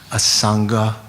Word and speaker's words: Asanga: A Sangha was sort of when we talk about the Mahayana great charioteers, we talk about a Sangha and who's the other?